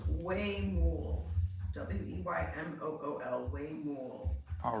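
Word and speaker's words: huemul: had a photograph okay they're telling me it's pronounced way more w-e-y-m-o-l way more all right thank you you're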